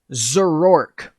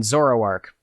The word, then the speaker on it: Zoroark: in something like maybe put zurork in like a hidden area of the game i mean zoroark is the actual pronunciation of it put glygar somewhere you